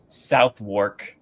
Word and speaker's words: Southwark: And it took me a minute to understand that it's not how you say it. It's pronounced Southwark. So it's set not South, South. and then not work.